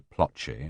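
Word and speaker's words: Ploče: "Ploce, spelt Ploce, pronounced Ploce.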